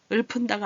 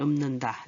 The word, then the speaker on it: 읊는다: 풍어를 읊는다. 읊은다가 아니에요. 여기. 그죠? 읊다 비읍으로 나서 읊는다. 네, 읊는다 할 때.